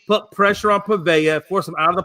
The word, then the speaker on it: Pavia: I mean, honestly, Pavia, I think is how you say his name, Pavia.